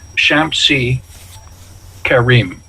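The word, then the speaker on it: Sampsigeramus: Now, you won't recognize this when you see Samsagarami or Samsagaramus, but they couldn't pronounce the sound SH in Latin. So when they transcribed it, they transcribed it as an S, but it would originally be pronounced Shamsi Karim.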